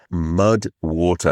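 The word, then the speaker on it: MUD\WTR: That is where the supporter of today's podcast comes in, MUD WATER, WATER, WATER, and it is spelled m u d w t r.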